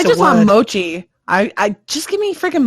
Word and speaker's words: mochi: It's either a mock or machi or whatever. However the hell that word is pronounced, it's a mochi. A matter. It's mochi. Okay, you get mochi now, so you get ice cream.